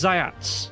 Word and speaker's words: Zayats: Pronounce Zayats, TS at the end, means white rabbit.